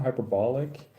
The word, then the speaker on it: hyperbolic: So the intonation is over the O with like a short O sound, hyperbolic.